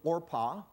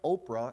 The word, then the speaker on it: Orpah: women one's name was Orpah by the way I think Oprah is a mispronunciation of Orpah I think that's how her name came so and then and